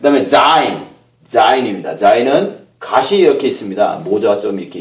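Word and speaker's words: זין: zain, z 발음이 나죠. z 발음이 납니다. z 발음, zain.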